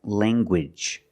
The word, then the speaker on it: language: hard G sound like language you have the nasal sound and the Heart language I have one language